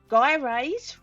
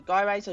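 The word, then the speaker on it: gyrase: undergoes the following steps guy raise relieves the tensions between the strands okay so guy razor Gyros whichever you want to pronounce it so there's a new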